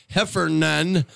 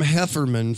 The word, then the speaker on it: Heffernan: mature wood yes with our friendly owner Mark Heffernan I've been calling him hefferman for about three years now dan and Greg Greg finally corrected me called me a stupid dumb and said say it right and so I did